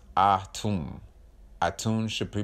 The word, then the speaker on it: Atum: Atum should be pronounced Ah-Tum.